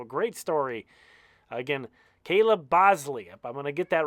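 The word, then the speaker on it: Boushley: with this one because it's not spelled the way it's pronounced you see that b o u s h l y but I think it's Bosley is how it's pronounced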